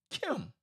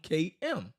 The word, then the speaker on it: km: is a biliteral sign combining the hieroglyphs for the crocodile skin and the ow which together produce the sound Kim or the sound km this combination is associated